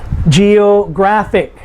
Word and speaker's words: geographic: all of them but words that end in ic geographic how many syllables g o graphic g is the first